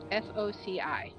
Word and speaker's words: foci: Alright, how to pronounce F-O-C-I.